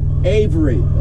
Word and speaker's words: Averitt: Now, how do you pronounce the company name? Averitt.